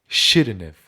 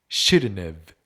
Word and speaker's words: shouldn't have: N 뒤에 T 발음을 생략하고 N과 V 사이에 소리를 넣는 것이죠. shouldn't have, shouldn't have.